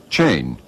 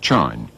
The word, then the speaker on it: chain: his country after Johnson educated people would spell and pronounce words according to the dictionary half not off thrust not frust chain not Chine and so copney the